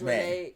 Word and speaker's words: Renesmee: it's, I think it's It's Renesmee. Renesmee. Yes, because Okay. it's a combination of Renee and Esme, Esme.